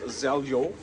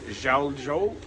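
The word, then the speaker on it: Željo: Okay, so this is Zeljo, or Zhaljo. I don't know how you say it, but it's Z-E-L-J-O. It was recommended to us. J is silent.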